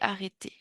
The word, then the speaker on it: arrêté: j'arrête j'arrête ouais mais au passé la prononciation change à la fin j'ai le accent aigu j'ai arrêté j'ai arrêté l'arabe d'apprendre